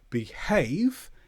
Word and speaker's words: behave: In the middle of the word, the h is usually pronounced when surrounded by vow. So, behave e h a. So, we pronounce the h sound and cahoot a ho.